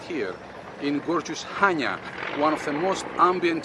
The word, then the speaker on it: Chania: sealed spelled with i c-h-a-n-i-a so it makes perfect sense that you say chania which simply confuses everyone the c is silent and the proper way to say the word is hanya hanya has a remarkable 5